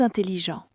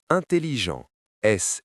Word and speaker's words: intelligents: Les amis de Lucas sont très intelligents. Analysons les, S muet, ami, S muet. Lucas, ici le S se prononce, c'est un nom propre. Son, T muet. Très, S muet. Intelligent, S et T muet.